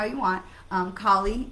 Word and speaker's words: Kali: how you want um kali is um i think the more uh indian hindu uh pronunciation and you know me having spent you know half my life in california uh i am affirmed i am prone to say callie because you know cali girl